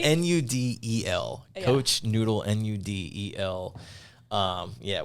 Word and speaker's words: Nudel: BL with a K and noodle is not like our noodle nudel coach noodle nudel um